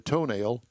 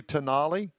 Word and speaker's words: Tonale: Alfa Romeo, I love the name of this, production of the toenail. No, it can't be. It's got to be. It's got to be pronounced something else. Probably Tonale, but it looks like toenail.